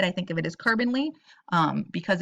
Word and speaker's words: carbonyl: to be nonpolar you got the carbonyl it's pronounced carbonyl in my head i think of it is carbonly because it's got just that carbon with a